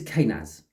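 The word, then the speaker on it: Kenaz: This is, I weren't right with how to pronounce the name though. This is Kanaz.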